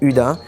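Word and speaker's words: Hydda: C'est parce que ça s'écrit H-Y-D-D-A et en suédois, ça se dit Uda.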